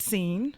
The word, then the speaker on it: CEEN: But talk about the mission of Is it pronounced seen or just CEE and what what's the best way of saying it? Thank you, Drew. We pronounce it seen. Thank you very much, just like it sounds.